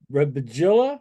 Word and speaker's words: Rebeglia: get him out here his name is Roger rilla right did I say it right R wow John you got it very thank you thank